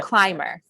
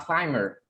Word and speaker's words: climber: rock yes okay so climber you don't pronounce the b a climber okay so he didn't